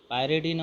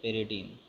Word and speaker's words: pyridine: Okay, pronunciation पायरिडीन और पिरिडीन, PYRIDINE।